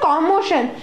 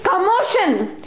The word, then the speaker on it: commotion: it is commotion but it is not calm motion it's commotion or it may sound or but this is the way how it is this whole world is odd isn't it no this is pronounced as commotion not commotion this is